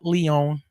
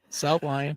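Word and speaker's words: South Lyon: Spelled with a Y. It's not It's not Leon. It South Lion.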